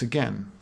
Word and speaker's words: again: because we're trying to rhyme with men which doesn't really rhyme with friends either you're supposed to be ending on a stress so you want to say again if you say again you're de-stressing where you want to be stressing your answer is unstressed